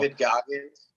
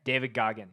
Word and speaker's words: David Goggins: David Goggins. Okay, David Goggins.